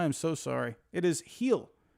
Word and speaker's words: Gil: I've never actually seen I was saying Gil I've never actually seen him pitch like on TV I I guess I'm saying it wrong it's heel oh I apologize I